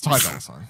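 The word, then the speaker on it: Ty Dolla $ign: It's Ty Dolla Sign, I believe is how you say the person's name.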